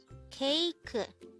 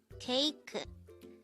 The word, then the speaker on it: 케이크: KEIKEU. KEIKEU. This is pronounced as a three-syllable word.